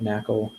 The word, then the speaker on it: NaCl: this library called nacl they say that you're supposed to pronounce assault but around here we call that nakal for but because otherwise